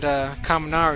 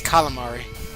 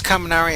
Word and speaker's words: Kaminari: And I always imagined Taylor and Kaminari would be good friends if they met each other. And Taylor would always mispronounce his name as Calamari.